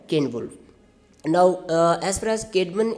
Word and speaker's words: Ceolwulf: But I have checked these pronunciations, so you can pronounce them the way I am trying to pronounce them: Caedmon and Ceolwulf.